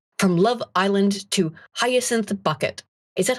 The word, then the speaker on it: Bucket: From Love Island to Hyacinth Bucket." Is that how that's named? Whatever. It's Hyacinth Bouquet. Bouquet, okay. It's a TV show. It's spelled Bucket.